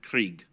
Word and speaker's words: Craig: from diana scott krieg it's spelled craig but they're from scotland it was pronounced krieg and you received a